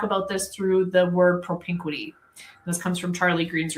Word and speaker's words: propinquity: And Craig and I talk about this through the word propinquity. This comes from Charlie Green's research. You might just spell it, Brandy.